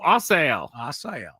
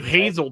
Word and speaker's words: Asael: I think it's a silent H there to get it perfect. Oh, Asael. Okay. Good thing I didn't call you Hazel today because that, me.